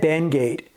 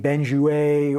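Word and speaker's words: Benguiat: personal Heroes is Ed benate and people always mispronounce his name benju or Ben guat or whatever I did for a long time and I'm pretty sure it's benate so Ed created a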